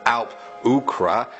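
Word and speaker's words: Alp-luachra: Next we have Sully1017 who says Derg Du is pronounced Darug Dua, Alp Luatra is pronounced Alp Ukra, and Slough is pronounced Slua.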